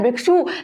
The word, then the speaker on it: भिक्षु: हम कह रहे हैं भिक्षु, लेकिन बुक में लिखा है भिक्खु, लेकिन दोनों ही सही है। वो पहले इस टाइप से होगा, लेकिन अब क्या है? उच्चारण उसका भिक्षु सही है।